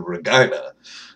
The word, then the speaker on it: Regina: But the Regina Rage, because, you know, that's how you pronounce that city's name, is the Regina.